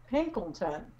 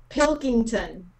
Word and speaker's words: Pilkington: have totally butchered it pilkington said in three words pill king time thank you thank you